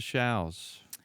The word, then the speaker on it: Shows: learn more about showels I have a website it's wwws to show calm showers are spelled like shows SH OWS but rhymes with cows and spell with